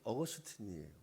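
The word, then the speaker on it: Augustinus: 생소한데 어느 나라지 여러분 아우구스티누스 누군지 아세요 영어식으로 발음하면 어거스틴이에요 터키라 그러면 바로 알았을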